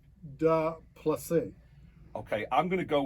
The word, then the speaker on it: Du Plessis: the surname wasn't that bad because it's French, so a lot of people can say, oh, okay, the S is silent, so it's Du Plessis.